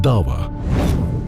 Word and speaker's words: da'wa: Dawa is the way it's pronounced.